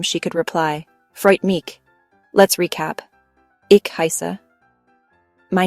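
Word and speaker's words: Freut mich: It's pronounced Freight Mish. So after Ben tells Anna his name, she could reply Freight Meek.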